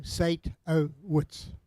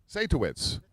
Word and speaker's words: Satowitz: If you broke it at the O, Sate-O-Witz. Satowitz.